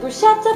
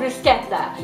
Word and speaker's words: bruschetta: make a tuscan favorite called bruschetta many people pronounce it bruschetta but it's actually as my husband told me time and time again called bruschetta it's made with fresh tomatoes garlic and basil